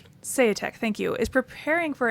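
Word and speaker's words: Seyetik: While noted scientist Gideon Se, how do we pronounce his name? Seate. Seate, thank you.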